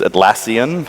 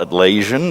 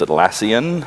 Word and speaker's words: Atlassian: uh I'll just let you know how to pronounce these atlassian it's not at lesion it's atlassian and it's jira jira is from the Japanese